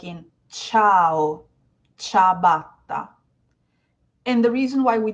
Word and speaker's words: ciabatta: Some people would pronounce it as ciabatta, but actually Oh, very good. the ci just means a ch, so it's actually pronounced ciabatta.